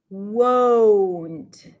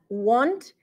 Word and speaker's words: won't: Won't, right? I'm not pronouncing it as want, it's won't.